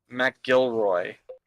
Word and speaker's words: MacGilroy: MacGilroy apparently is the way to pronounce.